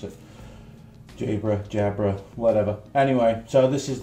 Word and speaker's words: Jabra: Alright, so very well-known company, Jabra. I don't know whether that's how you pronounce it from the UK. That's how we pronounce it. Jabra, whatever.